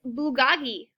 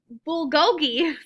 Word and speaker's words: bulgogi: Madison as she points at Justin's food its Bugatti blue what will go bulgogi sorry I pronounced it wrong it's Korean barbecued beef my